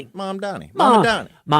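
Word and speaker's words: Mamdani: Mom Donnie. Mom and Donnie. Mom Donnie.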